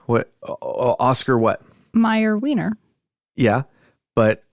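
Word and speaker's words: Mayer: what the jingle says nope it's Oscar mayor it doesn't sound like the jingle Oscar mayor m a y e r but do they pronounce it Meer see I think they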